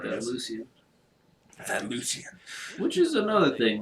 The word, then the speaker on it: Lucian: That Lucian. Which is another thing. Like, I know it's a small thing, but like in Lucian, I'm like, you got the hard C and the soft C.